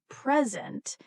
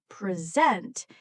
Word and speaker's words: present: For example, the word present can mean two different things depending on stress. If we stress the first part, present, it means a gift. But if we stress the second part, present, it means to give a talk.